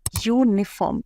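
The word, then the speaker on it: uniform: Same in यूनिफॉर्म, यूनिफॉर्म इसमें वाई की sound है, इसलिए अ यूनिफॉर्म।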